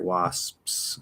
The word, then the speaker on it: wasps: with the p so if i fully articulate this word wass now you see my ellipse close you see them open back up there's another s after it wasps okay it's nice and clear fully articulated but the way we normally say it is wash so the s never actually stops my lips don't fully close but because i'm moving in the direction of the p it creates a subtle little illusion that the p